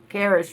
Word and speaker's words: Karis: Karis rhymes with Harris.